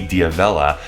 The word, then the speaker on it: D'Avella: Knowing how to pronounce it properly, D'Avella, makes you part of that group.